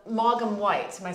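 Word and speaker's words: Maugham: of uh it's called Morgan White am I saying that white okay right right okay spelled m-a-u-g-h-a-m yeah but it's pronounced Mom okay we'll put the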